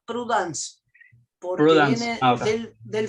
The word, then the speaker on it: prudence: Se escribe prudence, pero se pronuncia prudence, porque Prudence.